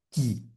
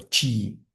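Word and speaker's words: qi: tauísmo esta energía vital se llama qui, ¿si? o chi, o sea, es cómo se escribe, se escribe q i sin la u.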